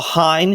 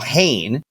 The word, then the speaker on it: Hein: with us when the window closes uh Hine excuse me Hayne apparently it's not pronounce Ty everyone's saying it wrong uh the